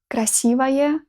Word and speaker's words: красивое: So, for example, in this word, красивое, you pronounce O still like A.